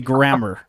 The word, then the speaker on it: Grammer: correct people's pronunciation of Namor and then pronounce Kelsey Grammer like that because that's not how you say it. It's Kelsey Grammer.